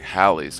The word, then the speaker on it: Halley: was comet so like Halley's Comet furthermore there are accounts that the last name of the dude was actually pronounced Halle by the man himself sadly he has no